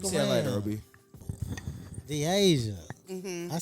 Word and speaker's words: Dasia: Dasia.